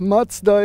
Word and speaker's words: Mazda: Mazda MX-5 or the Mazda Miata. And I know, especially you American guys, you say, hey, he says Mazda, it's Mazda. Well, we pronounce it Mazda over here, so I'm gonna stick with it because I get mixed up anyway.